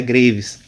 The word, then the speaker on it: Graves: a doença de graves que se escreve graves mas a pronúncia graves vamos explicar o que